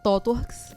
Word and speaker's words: ThoughtWorks: Todo mundo sabe, ninguém sabe pronunciar. Eu sei, tá. Fala aí. ThoughtWorks. Exatamente assim.